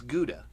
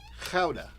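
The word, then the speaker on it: Gouda: a fine smoked Howa cheese you think it's guda it's not it's not pronounced guda not by the Dutch at least it's pronounced Kaa which I think is pretty amazing uh this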